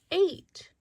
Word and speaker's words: ate: Word Dog Detective is pointing to the word ate. A-T-E. Ate has a long vowel sound A. The E is silent.